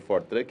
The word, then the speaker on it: 4Truck: né filmando fotografando e corrigindo geral daqui na pronúncia Aliás quando montei a empresa a gente definiu por fortrek a gente apanhou bastante no início até que